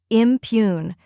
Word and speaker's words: impugn: The P is soft and followed by the Y sound like in you, and the oon part is like the sound in moon. Now let's put it all together. Impugn.